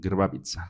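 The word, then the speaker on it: Grbavica: Yo yo recuerdo que por esa película me empecé a interesar en el tema, se llama Girbavabza, se escribe GRB I eh no, GRB A V. Girbavitza se pronuncia.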